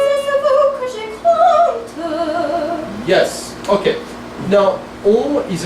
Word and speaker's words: compte: So look at that vowel as open as you can. Compte. Say it. Compte. Okay, can you put the k in front of the tongue?